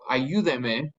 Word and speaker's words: ayúdeme: Remember, any word that ends in an N, an S, or a vowel naturally has the second to last syllable stressed. Since we're breaking that rule, we want the stress back where it originally was. We added a new syllable. We have to write that accent there.